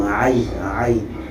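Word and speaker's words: عين: Tu vas les prononcer par la gorge. Par exemple, Kha ou Aïn.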